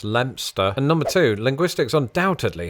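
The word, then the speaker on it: Leicester: two things number one this English town is pronounced lster and number two Linguistics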